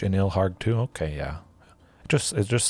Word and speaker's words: Ilharg: Ilharg, the Raise Boar, or Ilarg. I've always pronounced it Ilharg. Sounds kind of cool, rough, and tough.